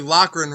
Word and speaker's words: Loughran: you my last my last name is actually lochran right but it was always mispronounced so that's how it